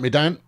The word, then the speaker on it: Medan: Me apostrophe Dan. There we are. All right, Medan. Good. I've now got my pronunciation of that completely locked in.